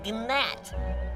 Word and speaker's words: gnat: me you are a gnat there's a g silent it's not are you